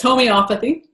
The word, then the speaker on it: homeopathy: much so what is homeopathy or not even pronouncing it properly just a slight correction it's homeopathy Oh mija that's okay homeopathy is a practice